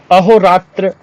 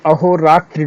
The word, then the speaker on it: अहोरात्र: इसी पेज में था अहोरात्र जो यहां अंदर लिखे हुए हैं इसमें ध्यान रखिएगा अहो रात्रि नहीं होता अहोरात्र शुद्ध है ठीक है उसी प्रकार